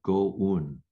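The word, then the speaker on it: 五蘊: Chinese character is five, in Japanese is pronounced go-un, and un also means bundle.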